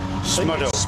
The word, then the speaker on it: Smudo: How did you pronounce that rapper's name? Smuddo. Smudo.